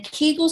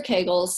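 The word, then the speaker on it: Kegel: weight gain and then Keel or Kagel we'll just say Keel for today but it's pronounced on different sides of the pond different ways um it's not effective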